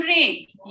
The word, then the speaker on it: reign: Late freedom रेन, ये इसको जी silent होता है, इसको रेन पढ़ते हैं, ठीक है।